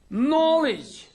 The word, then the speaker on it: knowledge: beginning of the word letter K is silent usually at the beginning of the word for example at the beginning of a word for example my knowledge night-night and so you